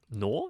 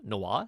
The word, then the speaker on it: noir: but kind of like a dry noir-esque film nor Noir so I normally mispronounce that word but I think it really